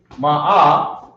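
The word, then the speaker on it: مائة: And then you have ma'a, where there's a ma and an R sound.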